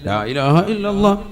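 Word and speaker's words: لا إله إلا الله: അള്ളാഹു അപ്പൊ ഒരെണ്ണം ആയി ലാഇലാഹ ഇല്ലല്ലാഹ് അവസാനം നീട്ടി ഹാന്റെ ഉച്ചാരണം കൊടുത്ത് തന്നെ നിർത്തണം ഇതെങ്ങനെയാ ചൊല്ലുന്നത് ലാ ഇലാഹ ഇല്ലല്ലാഹ് ലാ ഇലാഹ ഇല്ലല്ലാഹ് ഇന്നാ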